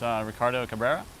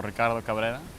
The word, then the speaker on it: Ricardo Cabrera: Hello, my name is Ricardo Cabrera, or Ricardo Cabrera. You can roll your R's if you want.